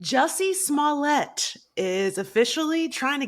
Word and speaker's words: Jussie: I'm happy for you, Jesse. Yeah. Jussie. I always want to say that man. His name is Jesse. Is it Jussie? Jussie rhymes with bussy.